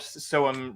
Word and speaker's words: SOEM: So we're like, okay, so we have so and then the letter M, but it's the pronunciation of the letter M.